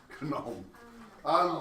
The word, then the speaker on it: gnome: Gnome. Chemistry gnome of Yeah, Knoll. No, gnome. Well, we wouldn't pronounce the G though, because we don't pronounce the G in gnome, so it'd be spelled with a G.